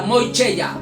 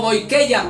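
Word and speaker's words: μοιχεία: Preste mucha atención a la palabra moicheia o moikeia, como usted lo pueda pronunciar. Yo no sé pronunciar el griego.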